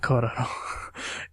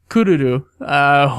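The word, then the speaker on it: クルル: It was Kururu in Japanese. Not Kororo. Kururu.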